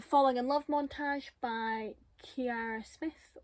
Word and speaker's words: Kiara: montage by Kiara Smith, or is it just Kira? I know someone whose name is pronounced like this and it's Kira, and I know someone whose name is spelled like this and it's Kiara, so I'm going to say Kira.